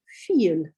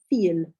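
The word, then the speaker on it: viel: four fear and then the word for a lot or many is feel feel and so yeah so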